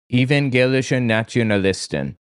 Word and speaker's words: Evangelische Nationalisten: Evangelische Nationalisten. I believe that's how it's pronounced.